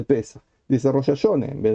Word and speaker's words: Pesach: El Ashkenazí, que sigue la manera tradicional de pronunciar, dice, por ejemplo, Borujato en vez de Barujata. Dice Israel en vez de Israel. Dice Paisach en vez de Pesach.